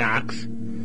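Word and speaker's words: Ochs: Reuven ox, is a distinguished rabbinical family, Toronto, the Ox family. Well, it's not spelled that way, it's spelled O-C-H-S. Anyway, right, like Ox, right.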